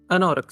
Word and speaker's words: Anauroch: Is it Orok or Anorok? Anorok, sorry. I don't remember how to pronounce it properly.